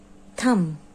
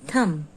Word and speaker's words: thumb: now next word is thrill thrill excitement thrill thunder this is a picture of thomas then is thread thread thumb b is silent here thumb read page number 26